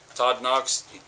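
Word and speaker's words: Todd Nauck: It's guest starring Todd Knox. He actually told me that's how you say his name. I had to ask.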